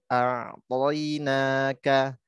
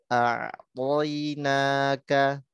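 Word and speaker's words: أعطيناك: Panjangkan bacanya 4 atau 5, tapi kita prakteknya 4 ya. Inna 4 panjang. Kemudian a'tainaka, a'tainaka, a'tainaka.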